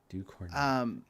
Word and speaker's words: Ducournau: Ducournau.